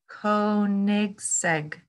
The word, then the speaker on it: Koenigsegg: Koenigsegg.